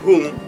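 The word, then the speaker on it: huṃ: Kenapa saya membacanya hung? Karena di pahatannya itu ada anusuara. Beberapa tulisan dari sarjana-sarjana Prancis, sarjana Spanyol, sarjana India itu menuliskannya dengan M titik bawah. Baca hung juga.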